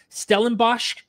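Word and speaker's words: Stellenbosch: Around the world, including the University of Hamburg, Stelenbos, is that how you pronounce that?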